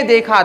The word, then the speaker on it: the: तो यहां पर द ना पढ़ के क्या पढ़ते हैं इसको? दी पढ़ते हैं।